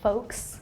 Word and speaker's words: folks: here the L is don't pronounce the L so folks cuz I have a